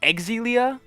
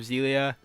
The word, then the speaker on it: Xillia: an actually side note it's apparently pronounced egg Zelia but that's frankly that's kind of dumb I don't like that so even if it's wrong I think I'm gonna keep saying tales of Xillia especially because you know